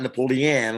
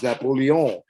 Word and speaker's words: Napoleon: And in Hawaii, the name Napoleon, not Napoleon, like they spell it in the United States, Lain, hello. No, it's Napoleon, like the city of Lyon, France.